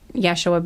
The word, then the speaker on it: Yeshua: often for like uh Yeshua being another name for Jesus. That's more like how his name would have been pronounced in uh his native language, you know, like in Aramaic.